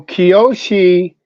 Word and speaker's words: Kiyoshi: Kayoshi or Kayashi? Which one is it? No, Kiyoshi is Kiyoshi is the title of a rank numerically that's between 6th and 7th, or 6th and 7th Dan.